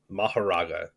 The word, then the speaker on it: Mahoraga: heard them because we've I've always heard it pronounced mahara and I don't think that that's incorrect because it is like a Buddhist term but the way that they pronounced it in Japanese was something more like Maha that's cool I think